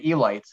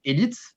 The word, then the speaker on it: élite: it um in English, if you were really to use the English way of pronouncing it, you would say elite. That would be the right Yeah. way Hmm. phonetically to say it. But because it comes from French, you pronounce Hmm. it a little bit French. And in French, we Yeah. would say in French we would pronounce it élite. Élite. Elite, elite, Yeah. elite, Élite. elite. Exactly. Almost like the name Elliot.